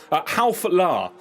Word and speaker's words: Halflar: Halflar is how we pronounce the last, unless I've messed up the pronunciation, but that is what I'm going with.